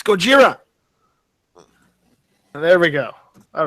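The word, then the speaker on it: ゴジラ: Godzilla Kira no it's goira Kira in Japanese it's Gojira there we go all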